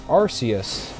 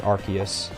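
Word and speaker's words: Arceus: all the kingdoms are it's arus or archus however you want to pronounce it tomato tomato I've heard it been pronounced both ways but I do believe it is officially archus if you look at the pronunciation and why not why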